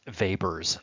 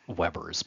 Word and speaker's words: Weber: model operates this way as does vaber model or Weber's model if you like that pronunciation so basically this means